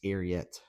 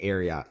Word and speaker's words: Ariat: know yet but the arot I say arot everyone says it's arot like Secretariat I know I know but I'm used to saying aot so it's a habit how do you sit